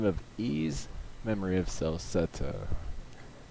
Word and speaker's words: Ys: have to say to the PlayStation Vita version ease which is spelled YS is an action RPG of a